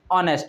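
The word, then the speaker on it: honest: बहुत से स्टूडेंट कहेंगे इसमें ऑनेस्ट है, एच साइलेंट है, इसका जो प्रोनाउंसिएशन है उसमें क्या आ रहा है, ऑनेस्ट आ रहा है।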